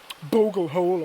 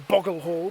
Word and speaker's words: Bogle Hole: Anyway, he dragged Long Lankin to Bogle Hole or Boggle Hole, depending on how you want to pronounce it, and he hung him over the deep part of the burn there.